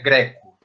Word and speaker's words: Greco: A pronúncia mais típica do meu sobrenome é Greco. É agudo. É agudo e não fechado.